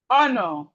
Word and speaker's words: honor: So we have silent letter H in words like honest, honest, rhyme, herb, honor, host.